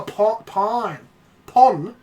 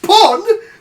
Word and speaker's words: Pawn Stars: Oh, pawn. Pawn Stars? It's not pronounced pon! It's not you don't pawn off stuff, you fucking mad bastards!